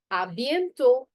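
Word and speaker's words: à bientôt: Then if I'm going to be seeing somebody soon, it's going to be a bento. Okay. Now t is going to be silent. A bento pronunciation.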